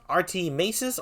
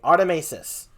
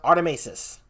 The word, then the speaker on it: Artimeises: call them arty by the way is it pronounced rt maces or artemisis artemesis artemesis i thought so okay artemesis we can call him arty though but it's pronounced artemesis yes all right so inky and the uh